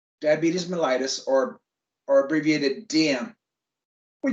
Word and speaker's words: diabetes mellitus: that's like most of us in this room diabetes mellitus that's how it's pronounced diabetes mellitus or or abbreviated dm we just shorten it